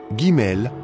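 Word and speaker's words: ג: Troisième lettre, Gimel, comme G.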